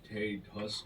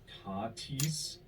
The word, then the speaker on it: Tatis: Also, you mispronounced one of the biggest stars' names in an episode, calling him Fernando Tatis Jr. when it's pronounced Tatis.